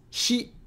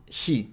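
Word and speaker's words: し: with a little Loop she she it's the English pronoun she that's very good in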